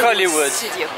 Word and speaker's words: Hollywood Studios: Il faut prononcer ça comme dans l'attraction à Paris. Hollywood Studio.